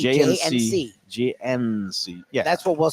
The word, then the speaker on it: J & C: affair we just say J and C we won't we won't pronounce the d we'll make the D silent D quiet a quiet D jnc jnc that's what we'll